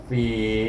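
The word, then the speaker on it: في: Fa baris di bawah bertemu dengan ya sini, baca dengan mad asli 2 harakat, iaitu fi. Ingat makhraj fa itu gigi kacip atas pergi kepada perut bibir bawah. Fi.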